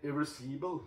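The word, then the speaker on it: Irréversible: Ja, i hvert fall så Irreversible, eller Irreversible, er det uttalt på fransk, ja. Irreversible, det er vel sånn originaltid den uttales, da, ja.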